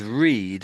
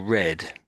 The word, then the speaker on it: read: So, so it's you can say this can be said read or read, and I think whichever way Read. it should have been said, you put it the other way. I think so. You've got to work out from the context which sense you should say, which tense you should put it in.